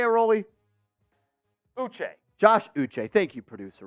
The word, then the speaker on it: Uche: Uche.